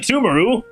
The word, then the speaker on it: Sumeru: i don't think that sounds terribly pronounced submeru okay i'm still gonna pronounce it sumaru it